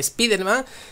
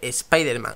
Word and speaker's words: Spider-Man: medida no es compañero no se dice spiderman se dice spider-man ha sido seis que así se dice en inglés y así lo decía allí pero aquí en españa se dice spiderman de siempre así que pues